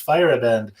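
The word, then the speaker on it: Feierabend: uh name but yeah oh it says on here pronounced fire abandoned i didn't even read that right on the label it says pronounce firebend the time of day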